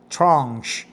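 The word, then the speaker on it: tranche: H I wonder what a trenchy is. Let's go and find out what trenchi what trench trench right maybe tie up right peace slice in structure the finance trench French pronunciation tranch is one of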